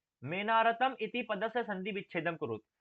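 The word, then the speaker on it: मेऽनारतम्: ने देखा होगा कि यहां पर जो एस जैसा जैसा बना हुआ है एस जैसा यह असलियत में ओ का उच्चारण करता है।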